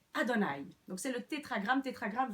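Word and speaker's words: יהוה: Que certains prononceraient Yahvé, mais ce qui est tout à fait irrespectueux dans la tradition juive, qu'on prononcerait Adonai.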